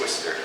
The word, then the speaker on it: Worcester: It's not pronounced the way it's spelled. Worcester? Yes, Worcester.